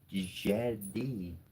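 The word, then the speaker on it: Djed: Anyways, but uh the word is spelled D J E D. And in what I read, the word ji exists. And the first D is technically silent. It's not technically verbalizes.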